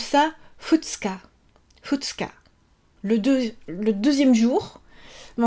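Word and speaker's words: 二日: On prononce ça futsuka.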